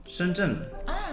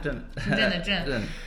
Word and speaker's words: Shenzhen: Shenzhen. Zhen ya, benar. Shenzhen. Soalnya banyak orang Tiongkok mereka lihat ini nggak tahu. Ini Zhen. Ya Zhen. Tapi orang Tiongkok lihat ini saja nggak tahu, tapi lihat Shenzhen tahu ini Zhen.